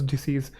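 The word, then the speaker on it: debts: Still after your mother's disease. तो आपकी माताश्री की मृत्यु के बाद घर जो है तुम्हारा नहीं होगा। ही had many डे्स। इसको डे बोलते हैं। डेप्ट्स नहीं डे बी साइलेंट होता है।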